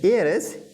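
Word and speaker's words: heir: होती ना हवा, एयर, तो इसका उच्चारण एयर होता है, H से बिल्कुल ना पढ़ें, हेयर ना पढ़ें, इसको पढ़ते हैं एयर।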